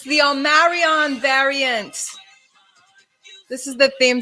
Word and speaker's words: Omicron: Omicron, he threw an N in there, but it's actually, I guess it's pronounced the Omicron variant, which is the 15th letter of the Greek alphabet.